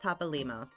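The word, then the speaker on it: Papalymo: do not forget uh his name is pronounced Papa Lio so like you break it into two words you got Papa and limo so a lot of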